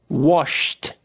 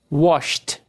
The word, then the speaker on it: washed: Wash. Não vibra. Som de CH. Washed. Washed. Kiss.